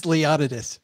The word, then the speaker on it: Leonidas: It is Leonidas.